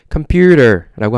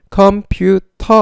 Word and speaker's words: computer: computer라고 합니다. 우리가 물이라는 표현을 영어로 어떻게 하죠? water 합니다. water 안 하죠. water 합니다. 그거랑 동일한 맥락에서요. 컴퓨터 아니고요. computer라고 발음합니다. 영어로는요.